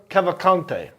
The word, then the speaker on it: Cavalcante: How do you pronounce that, Ball? This guy's name. Danilo Cavalcante? Souza Cavalcante.